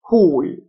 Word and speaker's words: whole: للخطر endanger endanger كلي total total complete complete whole W silent whole جزئي partial T-I-A تنطق شه partial incomplete incomplete notes on vocabulary